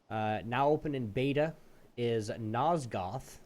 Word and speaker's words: Nosgoth: But Nosgoth, Nosgoth, is how you say it.